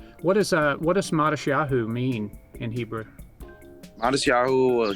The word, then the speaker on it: Matisyahu: You may have been given a Hebrew name, but we just went with Matisyahu, which is the Hebrew. And then in the Ashkenaz pronunciation, the t is pronounced with the sa.